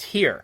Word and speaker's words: Tyr: on the Black Sabbath album tyr which is pronounced here so thank you for that letter number 19